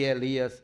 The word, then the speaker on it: Eli: dizendo: "Esperem, vejamos se Elias vem tirá-lo." Preste atenção. Devido ao fato da pronúncia aramaica Eloí ser bem parecido com a pronúncia hebraica Eli, Marcos dá a entender